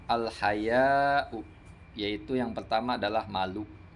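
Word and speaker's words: الحياء: Wa bi musannatin tahtiyatin, dengan dibacanya bertitik 2 di bawah. Wal mad, dan panjang. Al haya, panjang. Artinya dibaca mamdudah. Haya'u.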